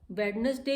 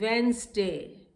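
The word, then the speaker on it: Wednesday: वेडनेसडे is very wrong, it इज वेंसडे. इट इज वेंसडे. D silent है इसमें, डी नहीं बोला जाता है.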